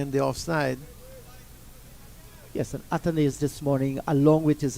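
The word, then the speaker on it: Athanaze: in the Jeep no I think I talked to him personally while he was in Guyana and he said my name is atanes yeah I that's how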